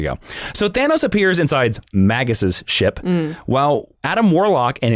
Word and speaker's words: Magus: Magus, like Magus, like a mage. Oh, maybe it is Magus. I'm saying it wrong. I'm such an idiot. No. It's Magus. They're both acceptable pronunciations. Magus. Okay. But it's the traditional Magus because it's derivative of mage.